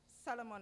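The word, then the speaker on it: Salomon: Solomon and Solomon, and yes, that's the correct pronunciation of the case, in which the court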